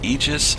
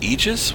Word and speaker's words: Aegis: the ships that we have which is the aegis retaliate err i know from this angle it